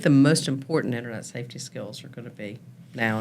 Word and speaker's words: Skyll: program for us, and it's called Skill. It's spelled Skyll. Well, when you get AI to talk to you, they call it Scowl.